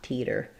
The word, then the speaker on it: teeter: So in the word teeter, letters EE most often say the E vowel. And then for words ending in TER, we tend to use a flap T there. So it sounds like teeter. Nice light flap sound. Not a strong D, just a flap, teeter.